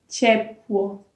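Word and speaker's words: ciepło: Sim, quando é C e vocês pronunciam ti, como na palavra chepo. Chepo, que significa calor em português. Então, nesse caso, a gente não lê cie, a gente lê tche.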